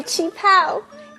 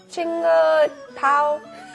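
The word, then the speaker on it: qipao: Look at my chi pao. It is from my mom. Oh, it's really pretty. How do you say that word again? Chinga pao?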